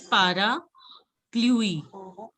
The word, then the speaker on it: parapluie: See, because two A's are coming. So whenever there is an A, it is pa. So it is para. Pluie.